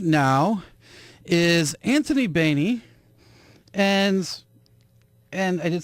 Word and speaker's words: Baney: Yeah, I'm definitely Anthony Baney, and you did pronounce that correctly.